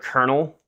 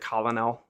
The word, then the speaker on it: colonel: Yeah, the word colonel. I used to pronounce it colonel. Yeah, it's colonel.